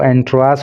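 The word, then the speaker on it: entourage: एंड ए 15 member एंट्रास, इसका जो pronunciation है वो एंट्रास होता है।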